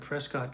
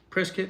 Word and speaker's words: Prescott: Prescott is how they pronounce it, strangely enough. Prescott.